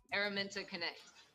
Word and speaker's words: Araminta Connect: And she is it's pronounced, pronounce it again, sis? Araminta Connect.